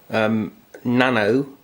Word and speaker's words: Nanao: It is a Nanao, I think it's pronounced that, it's N-A-N-A-O, ms2931.